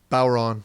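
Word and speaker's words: bodhrán: b o d h r a n and pronounce it again Bon okay great that's just for fun to confuse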